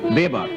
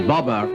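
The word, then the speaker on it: Babur: we have followed here the American pronunciation babber while the original name is bber as known in India after B's death the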